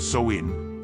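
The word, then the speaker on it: Samhain: to the ancient Celtic Festival of Sam Hae pronounced soin traditionally celebrated from October 31st to November 1st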